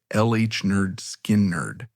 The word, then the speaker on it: Lynyrd Skynyrd: The album pronounced LH Nerd Skin Nerd.